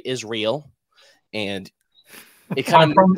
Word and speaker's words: Israel: So, I mean, you pointing using that pronunciation and saying El at the end strongly, I think super cool, because most people just say Israel, and it kind I'm from the South.